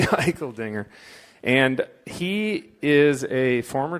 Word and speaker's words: Eicheldinger: I was hoping somehow that would be pronounced differently, but it is actually Eicheldinger.